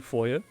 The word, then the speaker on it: foyer: Curiously empty foyer. Or if you're American, foyer, I've heard it pronounced.